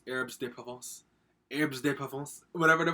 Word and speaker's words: herbes de Provence: And we got, I had to watch a video to learn how to pronounce this. It's herbes de Provence.